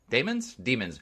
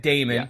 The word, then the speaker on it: Daemon: Last time I said Daemon because a computer daemon is spelled Daemon, correct? It is. Yeah. So, but they repeatedly say demon in the show, the episodes. And if you look it up, I think the actual pronunciation is demon, so I will just say demon.